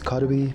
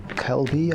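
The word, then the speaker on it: カルビ: Well, in Japanese it's karubi, but kalbi, I guess, in English.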